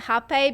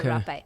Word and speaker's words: rapé: Yeah, Some people in the West call it hape because if you write it down, it's like rape, right? So they pronounce it hape in the West, but actually it's also rapé.